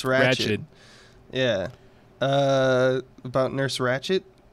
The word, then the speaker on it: Ratched: It's Ratched.